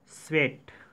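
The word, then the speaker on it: Tswett: अब आते हैं क्वेश्चन नंबर 20 पे, क्रोमैटोग्राफी वाज डिस्कवर्ड बाय, इसका आंसर है डी स्वेट, टी यहाँ पे साइलेंट है।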